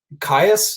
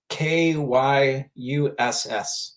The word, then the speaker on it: Kyuss: Caius, it's Kyuss.